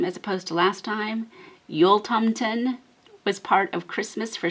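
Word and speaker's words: Jultomten: say his name as opposed to last time yul tomten was part of christmas for swedish children just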